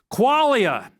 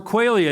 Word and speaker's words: qualia: Qualia or Quailia, it's pronounced both ways.